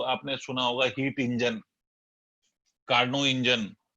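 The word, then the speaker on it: Carnot: जो आपने सुना होगा हीट इंजन, कार्नो इंजन, वैसे कार्नोट्स पढ़ते हैं हम हिंदुस्तान में, टी साइलेंट है तो कार्नो इंजन।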